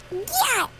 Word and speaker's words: gyat: Just gyat! Gyat! Mm-hmm. No? Pronounce the G.